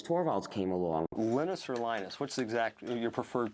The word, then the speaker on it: Linus: came along millena sir linus what's exactly your preferred pronunciation when I speak Swedish it's heinous when I speak Finnish it's Lino's when I speak English its Linus and I really don't